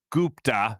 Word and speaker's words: Gupta: They have the new interim man, Sachin Gupta, Sachin Gupta. Gupta is how you say that.